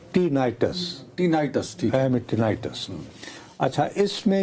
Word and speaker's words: tinnitus: पहली बात ये है कि मेरे से गलत प्रोनाउंस हुआ ये जो बीमारी है कानों में जो हेलीकॉप्टर इसकी आवाज आती है इसको विनाइटस बोला जाता है। मैनेगबन क्या क्या नाम है? टीनाइटस टीनाइटसिटिनाइटस अच्छा इसमें ये होता है कि ये